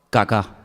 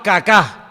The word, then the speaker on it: Kaká: muy feo, se llamaba Kaká. Menos mal que tenía el acento ahí. Si llega a tener el acento en otro lado, peor todavía. Se llamaba Kaká.